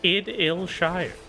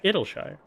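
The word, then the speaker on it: Idyllshire: Idle as in idyllic? Oh, so like no. That can't possibly be correct. Id like the software. Yeah, Idleshire.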